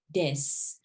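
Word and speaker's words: です: wa Jamaica shu shin desu. The U in the des, we don't pronounce it. You don't need to say desu. You don't have to. We usually drop that.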